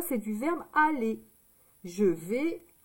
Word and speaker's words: vais: V. Le son E, c'est A et I. Ça fait le son E. Et avec le S. Le S, on ne l'entend pas, d'accord?